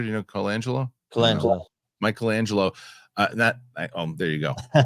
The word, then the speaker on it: Colangelo: Is that how you pronounce it, Peter? Do you know Colangelo? Mike Colangelo.